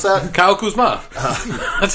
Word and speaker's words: Kuzma: you pronounce that? Kyle Kuzma.